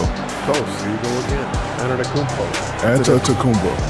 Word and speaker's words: Antetokounmpo: Antetokounmpo. But even it's Antetokounmpo. It's like a P.